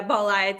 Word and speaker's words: Bolide: but we'll have to is it bow lied bullied how do you pronounce the project that's my first question as we get going here yeah polite is right okay okay awesome so